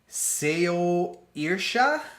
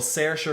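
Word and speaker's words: Saoirse: obvious like people like if you look at that name seria like you're going to like say s a o i r s e you're gonna be like sayo irsha or airshay or you know you're gonna have like all these like different different uh takes on that name but sarah ronan is um is her name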